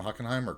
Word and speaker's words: Hockenheim: urban roads project roads bye is it ocanim hockenheimer kaiju claw i i i i'm going to say it wrong i think it's i think these are hockenheim yeah hockenheim big urban roads thought to i